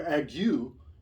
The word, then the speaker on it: ague: But the word ague is a shorter word. It has less letters, but it has double syllables.